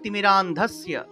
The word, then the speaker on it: তিমিরান্ধস্য: অজ্ঞান অজ্ঞান তিমিরান্ধস্য, অর্থাৎ এই যে দন্তস্বয়ের সে জফলা আছে, জফলার উচ্চারণটা ইয় রূপে হয়ে থাকে, ইয়া ইয়া, তাহলে তিমিরান্ধস্য ধস্য।